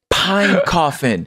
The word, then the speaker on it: Pinecoffin: Pinecoffin. Edward Pinecoffin. And that is spelled like it sounds.